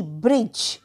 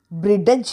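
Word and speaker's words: bridge: आय डी जी इ ब्रिज ब्रिडज नाही बोलत आपण डी असला तरी ब्रिज ठीक आहे ब्रिज तर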